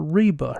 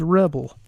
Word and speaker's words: Rebel: about that but anyway they got this woman's name wrong they kept calling her Reba her name's Rebel Cody rhods wants to